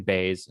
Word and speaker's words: Baez: i do yeah i didn't know how to pronounce her name until she was highlighted yeah it's it's uh cheyenne bay's and then her husband is jpg jp based